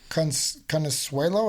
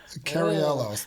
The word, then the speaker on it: Cariello: to listen to our amazing guest uh Carrie Conuel. Is that right? I think I butchered that. I think I totally butchered that. Okay. I I am so sorry. Carello.